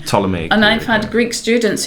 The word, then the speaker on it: Ptolemy: to say that the the p is silent but a lot of people these days are pronouncing the p so they would say ptolemy ptolemy and i've had greek